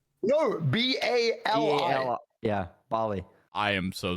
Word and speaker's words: Bali: it Bali it's called it's that's how you pronounce it it's Bary b a r l e y no b a l i yeah Bali I am so sorry thank you